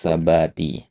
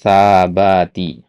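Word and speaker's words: ثبات: Nah, tadi antum bacanya ya sabati ya. Jadi panjang pendek juga kan mempengaruhi ya wasailabati ya.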